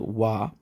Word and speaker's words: は: This phrase uses a special particle called wa, which is written using the hiragana character ha. This is one of the very few times that a character is not pronounced the way it looks.